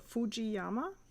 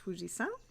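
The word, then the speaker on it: 富士山: And there was kind of like this misreading of the second character, san, which can be read as Yama as well. So a lot of people say Fuji or Fujiyama, but it's actually wrong.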